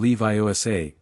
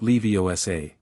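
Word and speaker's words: Leviosa: I am Leviioa, not Leosa."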